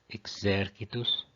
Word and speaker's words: exercitus: Exercitus é a regra 3. Quando a penúltima é breve, o acento vai para a antepenúltima.